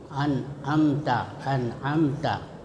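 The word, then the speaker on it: أنعمت: Karena kalau ada nun mati bertemu selain mim dan ba, nah itu disebut ikhfa. Samar, ya. Cara membacanya suara nun masih tetap terdengar, ya. Jadi terdengar itu suara nun dengan jelas, tapi samar antara izhar dan idgham. dan terus bersambung dengan makhraj huruf berikutnya.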